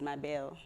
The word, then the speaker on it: Mabel: how you pronounce it, but I think the right way to pronounce it is Mabel, because of the way we write it and the way it's supposed to be pronounced, actually. I don't know where we got the Mabel from as Zambians. The actual name is supposed to be Mabel.